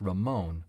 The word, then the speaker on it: Raymon: This is the head chef, Gregory Ramon, spelled Raymon, but pronounced Ramon, which gives him an ethnic flexibility that has only enhanced his reputation and cross-cultural appeal.